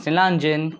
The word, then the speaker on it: Nilaanjan: Hello everyone, my name is Nilanjan, call me if can't pronounce.